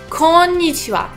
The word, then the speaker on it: konnichiwa: what you hear kon nichi ah good afternoon konnichiwa good afternoon so let's look a little bit